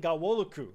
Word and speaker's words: Ghanwoloku: Dayan Ghanwoloku. The N is silent.